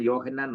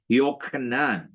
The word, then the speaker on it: യോഹന്നാൻ: എന്നാണ് യോഹന്നാൻ പറയേണ്ടിയിരുന്നത് യോഹന്നാൻ ഞാൻ യോഹന്നാൻ അല്ല പറഞ്ഞത് യോഹക്ക് ആ ശബ്ദം കേൾക്കണം യോഹന്നാൻ അതാണ് കറക്റ്റ് ഉച്ചാരണം മനസ്സിലായല്ലോ ഞാൻ ഈ പറഞ്ഞതുപോലെ ആ